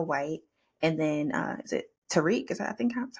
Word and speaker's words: Tariq: And then, is it Tariq? Is that, I think, that's how you pronounce his name? Tariq Yeah, Tariq Withers.